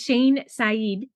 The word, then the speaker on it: Shane Saeed: Her name is Shane Sed.